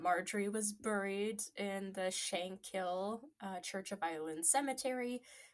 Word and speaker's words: Shankill: It's just shankill. Like K I L L. Shankill. Shank. Yeah. They would never pronounce the H anyway.